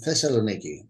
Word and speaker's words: Thessaloniki: Dimitris, please help me with the pronunciation uh, of this Yeah, university and the place. Thessal it is in Thessaloniki, in the northern part of Greece.